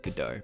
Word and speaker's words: Godot: 3d game engine called Godot some people pronounce it gadot that the first time I heard it the guy called it could die I'd previously put it